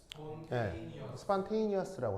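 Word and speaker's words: spontaneous: 자, 바로 스폰테이니어스라고 합니다. 자, 뭐라고 읽는다고요? 스판테이니어스라고 합니다. 이 스판테이니어스를 우리말로 자발적 이렇게 번역을 해요.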